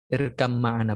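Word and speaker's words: اركب معنا: Irkab ma'ana ya. Irkam ma'ana bacanya. Kalau irkam ma'ana memang itu tradisi dari Arabnya. Kalau kita baca irkab ma'ana itu bacanya irkam ma'ana.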